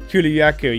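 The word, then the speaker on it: Kulu-Ya-Ku: Kuluyaku, yeah.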